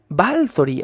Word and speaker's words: Báthory: tema romantizar o romanizacion batori Aunque romantizarlo o romanizar sería un poquito absurdo decirlo porque el Romano también es una lengua romance balori al parecer es la pronunciación correcta y Y entonces estamos